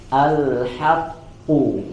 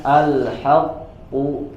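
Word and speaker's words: الحق: yaitu adalah huruf q Maka jangan sampai kita membacanya alhaqu Alha apalagi kalau sampai dibaca tebal dari e lamnya alhaqu ya tidak seperti itu tapi tipis yang tebal adalah huruf qnya alhaqu alhaqqu alhaqqu alhaqqu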